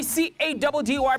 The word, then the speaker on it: Caddy: It's your boy C-A-D-D-Y, pronounced Caddy, yet again on another mission running the streets of Johannesburg.